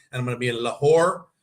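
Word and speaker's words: Lahore: I'm gonna be in lore yes that's how you say it lore for three days I'm going to a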